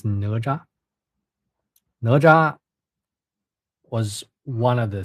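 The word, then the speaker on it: 哪吒: I don't know how it is pronounced in English. You know, how do you call it? It's Neja, Neja, Neja. In Chinese, it's Naja.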